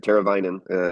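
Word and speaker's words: Teräväinen: Teravainen is the pronunciation for the last name.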